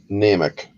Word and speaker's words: Niemiec: Dolly Nemec is how she pronounced it. It's Niemiec. But yeah, it's basically Oh, she passed away 2 years ago in September 2018.